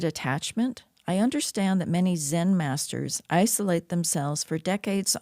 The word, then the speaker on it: Zen: The word you you mentioned Zen masters. So uh Zen is a is the Japanese pronunciation of the Chinese word chan.